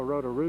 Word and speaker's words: Rotorua: No, Rotorua.